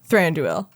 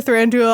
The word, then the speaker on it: Thranduil: go the full Monty and have him be Thranduil with those weird ass antlers.